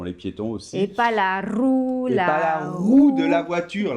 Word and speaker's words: roue: d'accord où sont les piétons c'est pas la roue la roue de la voiture la roue c'est